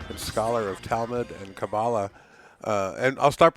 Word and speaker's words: Kabbalah: Kabbalah is simply the anglicized pronunciation. In correct Hebrew would be Kabbalah. Kabbalah. With the accent on the end, but either works, and I'll slip back and forth myself.